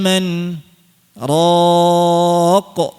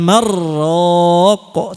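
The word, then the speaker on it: مَنْ رَاقٍ: Waqila man raq. Nah, gitu. Tidak dibaca waqila mar raq, tapi waqila man raq.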